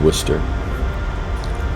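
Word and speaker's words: Worcester: example is spelled similarly but you know it's pronounced Worster so you encounter that a lot and that's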